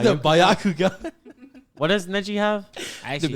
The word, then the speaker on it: Byakugan: The Byakugan, whatever, or the Sharingan?